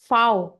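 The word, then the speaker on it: Fau: English का जो वी है वो जर्मन में हो जाएगा फाउ। English we is pronounced as फाउ in German.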